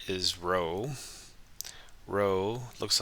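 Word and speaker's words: rho: Row looks like a P, but it's a Greek letter for R, and it's pronounced row.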